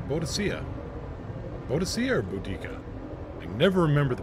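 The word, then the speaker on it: Boudicca: lock in the Boadicea bow to see air boodikka they never remember the pronunciation creative differences what is it with you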